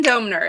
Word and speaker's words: Doemner: It's Doemner. It's hard to pronounce.